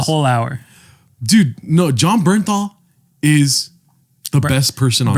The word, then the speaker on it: Bernthal: You need to say it correctly. What is it? John Bernthal. John Bernthal. Thank you, dude. Sorry. I don't want to hear this Barenthal shit.